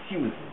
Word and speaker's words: Susan: Susan. It's like Su. Well, it's as though it's a diffong there's an I before the U. So Susan, right? And that's how it should be said.